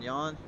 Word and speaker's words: Jan: back into the thought jan rhymes with yawn yawn yeah young van layer